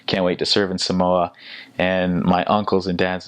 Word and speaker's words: Samoa: grateful to go to Samoa, can't wait to serve in Samoa. And my uncles and dads are like, it's not Samoa, it's Samoa.